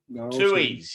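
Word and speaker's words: Tooheys: I'm not sure how to pronounce it. Tuies.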